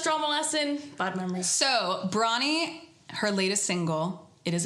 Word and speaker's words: Bronnie: people who were like what's your name Brian I'm like no six form first drama lesson bad memor so bronnie her latest single it